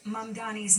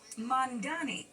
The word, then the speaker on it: Mamdani: Some have noticed that Cuomo continues to mispronounce Mamdani's name, calling him Mandani.